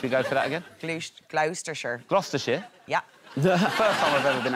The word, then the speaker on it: Gloucestershire: can't just keep which isn't scaring pigeons at gleester sure airport let's should we go for that again gloucestershire gloucestershire yeah the first time i've ever been